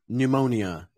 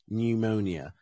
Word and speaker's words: pneumonia: the letters k n oh also these two pneumonia pneumonia yeah there we go that makes sense pneumonia pneumonia okay cool cool k n k n is